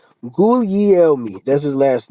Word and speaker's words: Guglielmi: I just want to, how do you pronounce his name? Guglielmi. Guglielmi. Guglielmi.